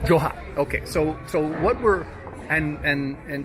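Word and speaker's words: جحا: Joha. Joha. But you said it actually smoother than that before. Joha. Joha. Joha. In the common language, our dialect is ha. Joha. Okay. In Arabic, in literature, Joha. Joha.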